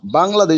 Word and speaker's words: Bangladesh: Oh, no, Bangladesh, not Bangladesh. Bangladesh is pronounced Bangladesh.